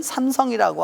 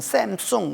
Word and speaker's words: 삼성: 삼성 이라고 하는 여러분 삼성이 라고 하는 말을 한국사람은 삼성이 라고 말하지만 세계적으로 삼성 이라고 발음하는 나라는 아무데도 없습니다 그 다 3 쏭 샘 쏭 우리 정말 발음하지 다